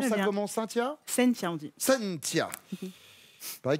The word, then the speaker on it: Cynthia: On prononce Très ça bien. comment? Cynthia?